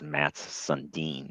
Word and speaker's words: Mats Sundin: That's a Finnish name. It's Mats Sundin. That's how that one's pronounced.